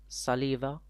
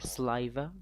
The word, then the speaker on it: saliva: We have response, which is saliva or saliva. You can pronounce it either way.